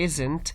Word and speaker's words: isn't: From the pronunciation prospect, the T is light T here. It's not very much stressed. So you don't have to say isn't. You have to say isn't. In American English, T is silent one. In British, it's a light T.